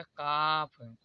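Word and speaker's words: calf: होता है जैसे देखिए सी ए एल एफ तो फ से पहले एल आया है तो यहां पर एल जो है वह कॉमन होगा इसे पढ़ा जाएगा काफ यदि हा यदि आप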